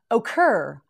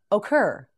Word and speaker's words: ochre: again occupation that's correct ochre o ker ochre now you say it